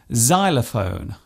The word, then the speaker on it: xylophone: not a silent letter it often starts a word by being pronounced as Zed such as in xylophone and xenophobia this particular